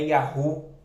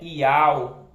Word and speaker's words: Yahweh: O nome não é Javé, não é Jeová, não é Yavé, não é Yahu, né? Não é Yehová. O nome é Yahweh.